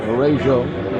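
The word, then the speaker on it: Varejão: He has changed the pronunciation of his name several times this season. He says now Varejao. Varejao. There was an N in there at some point, not literally, but font.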